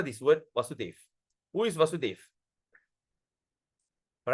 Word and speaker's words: Vasudeva: So if there's a dash on top here, is Krishna, Vasudeva. But when there's no dash, okay, when there's no dash, it is called Vasudev.